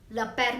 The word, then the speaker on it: père: On E you can see accent grave is there, so it will be pronounced as train. Next, mère. Mère means mother. Mère. Le père means father.